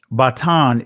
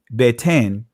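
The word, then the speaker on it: בטן: Batan is how you pronounce it in the ancient language, but you see beten, right, which is the Israeli pronunciation of the word.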